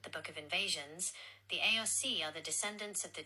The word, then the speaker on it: Aos Sí: Aos Sí, pronounced Aos Sí, are the people of the Mounds, the supernatural